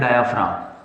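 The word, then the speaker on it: diaphragm: है इसे बोलते हैं डायाफ्राम। क्या बोलते हैं? डायाफ्रागम, ये स्पेलिंग है इसकी। डायाफ्राम प्रोनाउंसिएशन इसका होता है डायाफ्राम।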